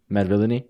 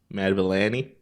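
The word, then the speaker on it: Madvillainy: how to pronounce actually yes med villainy yeah I've been saying that wrong this whole time what were you saying Matabele Annie mad Villani Lena right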